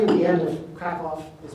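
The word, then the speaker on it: Kraków: publish pronunciation the W at the end of crackoff is pronounced as a B you see in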